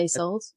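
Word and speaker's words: Isolt: But actually, that got me thinking what you just said, you know, knowing that Iseult, is that how you say her name? Yeah, Iseult.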